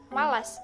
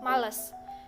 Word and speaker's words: malas: dan yang ketiga yaitu kata malas diucapkan malas bukan males dan yang keempat adalah